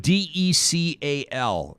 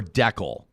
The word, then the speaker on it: decal: a terrible idea uh the word d-e-c-a-l is pronounced decal or decal i say decal me too uh but i think that's regional and this the final